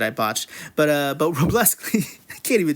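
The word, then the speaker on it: Wrobleski: But Robleski, you say that without the W because the Astros don't because the Astros didn't let the Dodgers have any W's.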